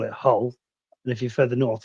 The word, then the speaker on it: Hull: Anyway, you need to stop pronouncing Hull with the H. It's Hull.